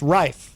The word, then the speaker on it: Rife: band yes yeah and your last name is pronounced rife rife yeah i do hear reef a lot though yeah you're